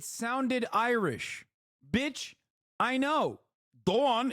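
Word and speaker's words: Doğan: Dawn is my middle name. Dogan is how you spell it.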